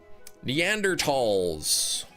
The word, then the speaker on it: Neanderthals: Neanderthals. Yes. That is the correct way to say it.